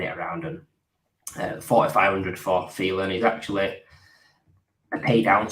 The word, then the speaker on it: Thielen: And to rhyme with ceiling, I've gone for a guy that any chance I can get this guy's name on the show, I'm going to do it. The ceiling of Adam Thielen.